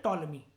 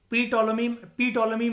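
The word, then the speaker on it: Ptolemy: ये इसके नाम में ना पी साइलेंट होता है, टी से पढ़ते हैं हम इसको। इसको हम लोग कहते हैं टॉलमी। क्या कहते हैं? टॉलमी। पी टॉलमी मत कहना, टॉलमी कहते हैं।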